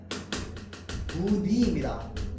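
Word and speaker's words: 무늬: 자, 그래서요, 첫 소리가 자음인 음절의 의 같은 경우에는요, 어떻게 발음하느냐? 이로 발음합니다. 자, 그래서요, 무니는요, 무니입니다. 얘는 예외 없어요.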